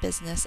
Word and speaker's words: business: And actually, the U in this word really sounds like it's saying an I, so we're going to put an exception over that.